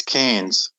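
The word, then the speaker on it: Cairns: a i r NS it's cans like cans canes canes c i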